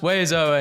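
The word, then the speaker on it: oiseaux: No letter is pronounced the way it should. And then there are 7 of them. It's pronounced Wezo, and yes, I will die mad about it.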